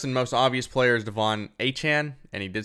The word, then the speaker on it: Achane: So the first and most obvious player is Achane, and he did say wants his name pronounced like that.